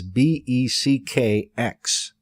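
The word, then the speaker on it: Beckx: B E C Kx B E C Kx.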